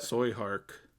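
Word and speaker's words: Tsui Hark: Soy Hark. Soy Hark. Soy Hark? That's how you say it? I literally looked up how to pronounce it.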